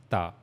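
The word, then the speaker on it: ت: And then we read about Ta, that for pronouncing Ta, we have to use the tip of our tongue and the upper incisor, the gums of upper incisor. Okay, we have to connect the tip of tongue to the upper incisors gum, and that's how we will pronounce Ta.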